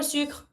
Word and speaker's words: sucre: And same for sucre, don't pronounce the last E.